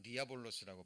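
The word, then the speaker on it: διάβολος: 그리고 마귀, 오늘로는 디아볼로스라고 발음이 됩니다.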